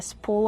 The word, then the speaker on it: spool: Here I have a spool of thread. Kevin, how do we pronounce spool? Spool. We pronounce it with a long oo plus a dark L. Spool, like cool and pool.